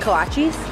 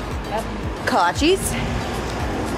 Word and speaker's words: kolaches: and then eric's getting i think there's pronounced kolaches kolaches and then we're gonna